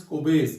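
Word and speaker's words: Kolbe: और कोबेज electrolytic reaction या कोबेज electrolysis में बेटा एल is silent over here, कोलबेज देंगे, दिस इज कोबेज बेटा, ये याद रखना, क्लियर।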